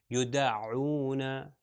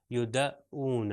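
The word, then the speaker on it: يدعون: یدعون یدعون، تو عین یہاں سے نکلے گا. اگر میں اس کو غلط تلفظ کروں الف کا تو یہ ہوگا یدعون، اونا نہیں بلکہ عونا.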